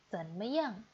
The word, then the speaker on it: 怎么样: Zanmetu, bagaimana bacanya teman-teman? Ya, zanmeyang.